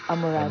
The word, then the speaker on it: Amouage: So wala po siyang R pero you will pronounce amorage.